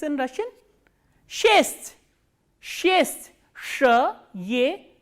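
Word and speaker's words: шесть: Shest, shest, sh, ye, s, t and soft sign.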